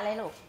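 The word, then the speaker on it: ฦ: เท่า กับ ตัว ร ตัว ลึ ลึ เป็น เสียง ข้าง ลิ้น นะ คะ ลม จะ ออก ข้าง ๆ แก้ม นะ คะ อ่ะ ก็ คือ ลึ อ่ะ อำไอ ไอ เอา รึ รือ ลึ รือ อำ ไอ ไอ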